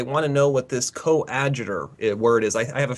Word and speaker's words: coadjutor: But he corrected me on the term. It was coadjutor. That's how they pronounce it.